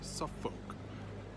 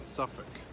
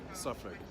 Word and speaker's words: Suffolk: okay so if you say noir folk or soft folk we gotta get slap up the side of that try Norfolk and Suffolk that's how you do it Norfolk Suffolk and Cambridgeshire not Cambridgeshire you against slap up